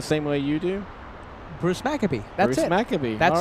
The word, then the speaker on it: Maccabee: He says you do pronounce his name correctly. Did I say it the same way you do? Bruce Maccabee.